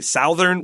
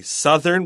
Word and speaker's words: southern: We don't say southern, we say southern with a short U sound.